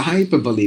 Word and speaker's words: hyperbole: e as well so hyperbole that's how we have to pronounce this word and this one so facsimile you have to pronounce this word not fasimo I don't